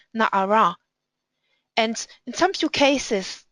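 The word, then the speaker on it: נערה: Or in the Torah it's written Nun Ayin Resh, but you have to actually read Na'ara.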